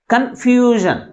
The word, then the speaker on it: confusion: అంటే లాస్ట్ నుంచి సెకండ్ సిలబల్ని అన్ని సిలబల్స్ కంటే ఎక్కువ ఫోర్స్గా పలుకుతున్నాం కాబట్టి then the primary stress is on the second syllable from the last. That means fusion. Confusion.